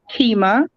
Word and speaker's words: Qimmah: yay okay so uh my name also is pronounced keema it goes well my